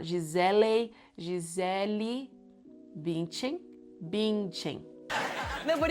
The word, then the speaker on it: Gisele: Gisele, very Brazilian. G is sounding like J because you have a vowel afterwards. The E in the end of Gisele sounds like E, not E. It's not Gisele.